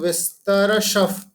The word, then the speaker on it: विस्तरशः: तो श के बाद जो विसर्ग है फिर प्र आ गया, राइट? इसलिए हम उसको विसर्ग को प में कन्वर्ट कर देंगे, राइट? इसलिए हमारा उच्चारण कैसा हो जाएगा? दैवो विस्तरशफ, विस्तरशफ प्रोक्त, ठीक है?